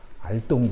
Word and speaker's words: 알동: 그 이안사라고 태조의 고조가 되는 분인데, 이분이 알동이라고 하는, 당시 지명으로 알동이라고 하는데, 어떤 분은 그걸 오동이라고 읽는데 오동이 아니고 원래 발음이 알동입니다. 알동 지역이 바로 두만강 지역이거든요.